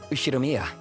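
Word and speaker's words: Ushiromiya: is my family name ushiromia that's a fairly plausible Japanese pronunciation so far the problem is my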